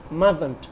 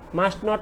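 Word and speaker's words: mustn't: আমরা উচ্চারণ করব মাজন্ট, মাস্ট নট উচ্চারণ হবে না।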